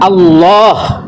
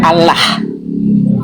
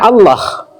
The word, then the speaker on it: Allah: Lam ketemu lam, kaidah bahasa Arab dibaca tafkhim tebal idgham, yaitu dibaca Allah bukan Allah. Jadi siapapun yang menyadur kalimat itu harus membacanya Allah berdasarkan kaidah alaha ya'lahu uluhatan wa ilahatan wa uluhiyatan.